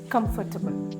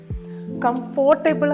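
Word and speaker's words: comfortable: നമ്മൾ ക്ലിയർ ആയിട്ട് പഠിക്കും കംഫർട്ടബിൾ കംഫർട്ടബിൾ കംഫോർട്ടബിൾ അല്ല കംഫർട്ടബിൾ അതിന്റെ ഞാൻ മലയാളം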